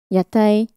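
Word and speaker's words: 屋台: Yatai, floats. It's the same pronunciation as the food stalls.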